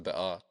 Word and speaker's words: Bekaa: The Bekaa Valley, which in Lebanese Arabic is pronounced Bekaa, is a region in eastern Lebanon that stretches from the Litani River to the Syrian border.